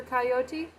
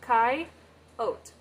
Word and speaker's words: coyote: road uh yeah coyote that that is the proper pronunciation for coyote so coyote but I will periodically say coyote and Rattler so Kai oat though there aren't any Rattlers